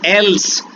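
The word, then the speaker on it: elles: हैं, लेडीज खड़ी हैं, तो एल्स बोलने में टिपिकली, लेकिन वो प्रोनाउंसिएशन नहीं होगा, सिर्फ और सिर्फ एल ही बोला जाएगा।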